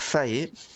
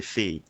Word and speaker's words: fée: Enfin, alors ça aussi, vous risquez de m'entendre dire Fae, alors que la bonne prononciation c'est Fée.